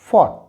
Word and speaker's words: fought: This will be फॉट, फॉट।